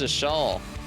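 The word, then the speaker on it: Ixchel: each shell that's right e shell spelled ix-c-h-e-l and that's Roger's fault I didn't do that one it's pronounced a shawl yeah a shawl sorry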